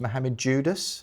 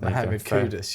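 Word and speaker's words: Mohammed Kudus: It's actually pronounced Mohamed Judas, not Mohamed Kudus.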